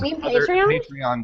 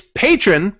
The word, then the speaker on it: Patreon: I'm not going to say Patreon, because that's the wrong way. Just think patron. Just think patron. Okay, whatever. Anyway. Never mind. It's patron, but it's also patronage.